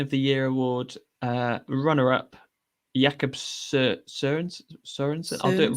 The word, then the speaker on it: Jakob Sørensen: Mispronunciation of the Year award, runner-up, Jakob Sørensen. I'll do it wrong. Sørensen, which I think we've mastered now.